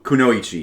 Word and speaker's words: kunoichi: I wonder is that how they pronounce it? Is it kunoichi? Konoyi. Kuno Kunoichi. Yeah, it says it says that there.